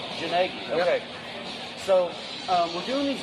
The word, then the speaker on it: Gnagie: Gnagie? Gnagie.